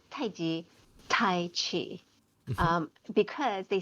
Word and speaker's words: taiji: uh that the and in actuality um it's pronounced tai chi in in chinese it's i g um so it's taiji and qigong so two different words taiji is